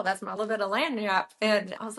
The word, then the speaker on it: lagniappe: It's a Cajun French term, and it's pronounced lagniappe, but it's spelled Lagniappe, and it means a little something extra.